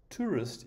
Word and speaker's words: tourist: into it for example tourist is a two-syllable word and the stress is on the first syllable so write it in